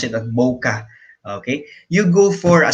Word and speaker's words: bokeh: it as boh KBO's ke h but you pronounce it up bokeh okay you go for a smaller aperture peanuts